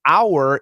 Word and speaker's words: our: our the word our our is pronounced are our in our in